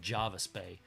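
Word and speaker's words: Jervis: r vis it's actually it's spelled Gervais but it's said Java spay so you're looking at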